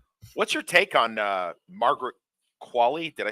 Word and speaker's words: Margaret Qualley: What's your take on Margaret Qualley? Did I say her name right? Margaret Qualley?